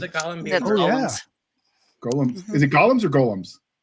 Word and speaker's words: golem: listed in dictionaries as you could say it that way, but one L, long O is all I'm saying.